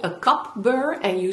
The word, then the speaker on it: cup burr: It sounds like coupling. And this is the tool I was talking about in that tutorial, and it's called a cup burr, and you spell it C-U-P burr.